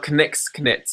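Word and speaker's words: Knick Knits: Another male knitter, there's Nick's Knits. Yeah. Or Knix Knits. It's spelled with a K. K-N-I-C-K, K-N-I-T-S.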